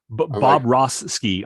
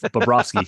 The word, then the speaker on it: Bobrovsky: Bob Roski. I'm like, Bob Ross was a painter. What's that got to do with Bobrovsky, who's in that?